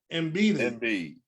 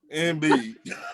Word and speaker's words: Embiid: Joel Embiid. Joel Embiid, number 1. Oh, I don't be like Dennis. Embiid.